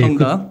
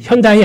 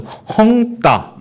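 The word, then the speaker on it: 恒大: 헝다? 예. 현다이 아니고요. 헝다. 네. 헝다. 그렇게 발음하는 겁니까? 보통 대자가 따거 아닙니까? 따자면 따. 헝다. 예. 이거를 이제 숨을 말하셔서 헝따.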